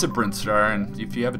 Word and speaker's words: Brinstar: I'm going to pronounce it Brinstar, and if you have a different pronunciation, just deal with it, honestly.